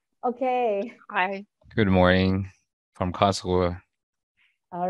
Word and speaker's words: Karlsruhe: And last not but least, we have KIT, located in Karlsruhe. Is that correct? Very correct. My pronunciation, okay.